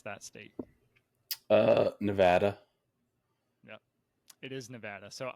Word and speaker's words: Nevada: out here in in Nevada and uh quickly I was corrected no it is Nevada so ever since then I've pronounced it Nevada because that's the way that people in Nevada pronounce it let's see for